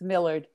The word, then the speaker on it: Millard: Oh, did you settle on whether or not it's Millard or Millard? It's Millard. Millard. Yeah. Oh, good. Now we're saying it right.